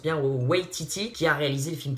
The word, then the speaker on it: Waititi: réalisateur qui est dans les plans, c'est Taika Waititi, si je le prononce bien, Waititi, qui a réalisé le film Thor Ragnarok, et